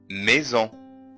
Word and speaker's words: maison: اللي هو الإي résister maison. طيب حرف الاس وقع ما بين حرفين متحركين، الحرف الأول هو الإي والحرف الثاني اللي هو الأو، عشان كده نطقناه زد maison.